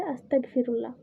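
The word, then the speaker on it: أستغفر الله: বাংলায় উচ্চারণ হচ্ছে আস্তাগফিরুল্লাহ।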